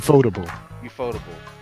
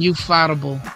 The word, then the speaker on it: Ufotable: Ufotable. He is. I was calling him ufightable, and I felt Ufightable.